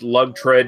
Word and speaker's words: Lagered: My only last comment is it's actually pronounced Lagered, not Lagered, like some fucking morons say.